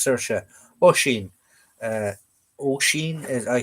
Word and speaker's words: Saoirse: Saoirse is another one that Yanks can't pronounce. English people can't pronounce. Saoirse.